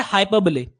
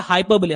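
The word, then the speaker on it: hyperbole: Next होता है हमारा हाइपरब्ले। ठीक है? इसकी प्रोनाउंसिएशन होती है हाइपरब्ले। हाइपरबोले नहीं होता। हाइपरब्ले।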